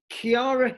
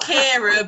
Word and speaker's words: Kiara: Kiara. Do we have Kiara here? Yes, I am here. Hello. Oh, hey, hello. It's pronounced Kira, but I'll let you off.